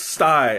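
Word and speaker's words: τσάι: Oh, it's stiff, so it's sty? Tsai? I don't know. Because I don't know how to pronounce a stiff T. So is it. Oh, sty. Okay, so it's sty.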